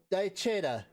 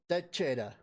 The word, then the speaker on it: Daechwita: The W is silent. Daechwita. Daechwita.